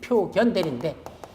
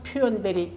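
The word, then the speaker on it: 表見代理: 그래서 표견 대리인데, 예, 표견 대리인데 사실은 읽을 때는 뭐란다? 표현 대리 이렇게 읽어요, 이걸. 뭐 일본에서 나온 건가? 하여튼 뭐 해서 우리말로는 견자로 써놓고 읽기는 현자로 쓴다. 원래 현자는 뭐죠? 여기 임금왕자가 들어가야 되는 이게 표현자거든. 근데 이게 없이도 표견대리가 아니라 어떤 학자는 표견대리라고 읽어 지금도. 근데 보통 이걸 표현대리라고 합니다.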